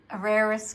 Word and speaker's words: Carrera: How'd you pronounce that, Kaz? Carrera's Carrera.